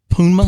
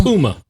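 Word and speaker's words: Pnuma: And uh you know, it's um pronounced Puma. Puma.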